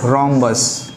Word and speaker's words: rhombus: रोम्बस। रोम्बस, रोम्बस में H क्या होता है? साइलेंट होता है, ठीक है, साइलेंट होता है।